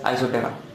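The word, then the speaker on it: Isoptera: to the subwater isoterror here p will be silent you should pronounce it as isothera so this is the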